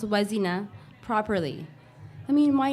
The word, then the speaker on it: Wazina: friend reminds me luzina your name isn't was inna was inna there's no question mark at the end of your name it's was inna it's was inna the